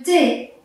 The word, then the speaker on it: thé: Un autre exemple, le thé. Comme H muet, on ne lit pas. Pareil, T et T. Le thé qu'on boit.